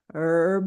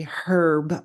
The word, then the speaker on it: herb: things interesting relating to this week's her of the week or as the British say herb of the week now at the time